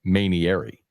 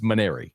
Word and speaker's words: Mainieri: his name on radio I said manary I added a syllable so there's a lot of vowels bro I'm a mosa I get it people get screwed up but it's maner yeah I'm a marer